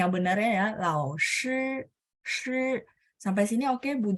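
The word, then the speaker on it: 老师: Shi, lao shi, bukan lao si, no ya. Lao shi, ya SHI ya. Spelling yang benarnya ya, lao shi, shi.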